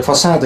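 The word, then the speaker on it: façade: 이건 발음이 이제 퍼사드 이렇게 나옵니다. 프랑스 쪽에서 놀다 왔나봐요.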